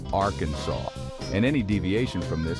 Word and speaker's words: Arkansas: according to state law the name should be pronounced Arkansas and any deviation from